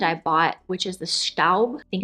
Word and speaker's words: Staub: this pan that I bought, which is the Staub, I think it's pronounced Staub, she assured me that this pan that I